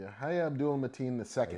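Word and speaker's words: Yahya Abdul-Mateen II: how do you pronounce his name? Yahya Abdul Mateen? Yahya Abdul Mateen II.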